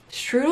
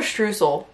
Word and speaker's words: Streusel: Strudel or streusel?